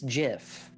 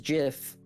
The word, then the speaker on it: GIF: asked gif or jeff it's jif and before any arguments or or screams it is jif no matter what you decide it is jif people have decided it's gif for some ungodly reason the laws of acronyms uh have just not been applied to this you don't say autumn for atm i mean some people